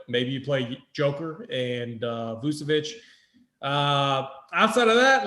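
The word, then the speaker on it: Vučević: Yes, Vucevic. I need to do a show with JT Hayes because I pronounce the names correctly.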